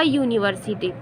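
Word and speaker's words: university: तो इसलिए हम लोग भले ही ये वॉवेल से शुरू हो रही है, बट इसका उच्चारण या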